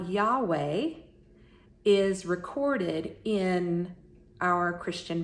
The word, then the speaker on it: Yahweh: So Yahweh is the typical pronunciation that we hear in Christianity.